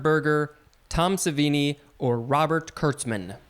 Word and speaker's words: Kurtzman: tom savini or robert kurtzman robert kirksman correct you said his name wrong but you are correct